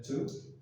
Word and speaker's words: to: Es el to. Exactamente. Es decir, requiere una palabra auxiliar. ¿Sí? Que es el to, la palabra to, se pronuncia la O como si fuera una U prácticamente, pero ese to es